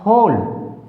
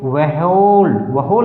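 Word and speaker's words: whole: अगर हम इसको W को साथ बोल जाए तो वहोल हो जाएगा, जो कि उच्चारण बिल्कुल गलत होगा, इसलिए हमने इसको याद रखना रूल को।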